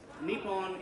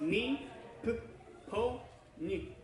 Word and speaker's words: Nippon: kind of, for instance, Nippon is a two-syllable word. That's Japanese for Japan, the Nippon Koku. But it's a for-own word because it's, the N is its own, on, and then the P gets one on, P-O gets another one,